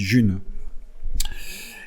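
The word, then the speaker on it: Ğ1: Ça s'écrit G et 1, ça se dit June.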